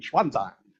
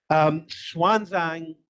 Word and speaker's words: Xuanzang: Older people here will know him as Xuanzang from your old style textbooks, but now he's written Xuanzang, if we're meant to pronounce it with the Chinese X.